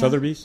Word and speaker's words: Sotheby's: Sotheby's.